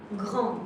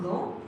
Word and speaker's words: grand: And grand, grand is tall. Grand is with a D at the end. But actually we write it, but we do not pronounce it.